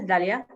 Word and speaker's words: Dahlia: so my name is dalia i i write my name with an h the h is silent so it's not the